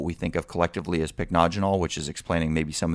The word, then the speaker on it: Pycnogenol: And today we're going to be talking about something called, and this is a tough one to pronounce, so bear with me, Pycnogenol, which actually, if you look at the word, it's got a Y in it.